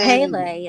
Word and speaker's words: Pele: They have a deity named it's spelled P-E-L-E. I guess you'd pronounce it Peli or Pelai. I'm not quite sure, but they're like, she's considered the volcano goddess in Hawaii. Yeah, that's interesting. And yes, and there is it's the kind of like the story. I think it's Pele, isn't it? Pele, like is that how you say it? Yeah, like Pele. That sounds correct.